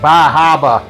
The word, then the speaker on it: Bar Harbor: My wife was from right around Bar Harbor. I think up there they pronounce it like Bahaba or something like that.